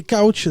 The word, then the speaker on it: couch: Et je précise, parce que à chaque fois je l'entends mal prononcer, couch, c'est comme canapé. Couch. C-O-U-C-H, canapé. Quel accent! Oui, non, mais parce qu'à chaque fois j'entends le couche, ça m'énerve.